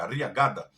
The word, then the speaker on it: Arriagada: Ou Ariagada, né? Que é 2 S, pronúncia em espanhol é Arriagada.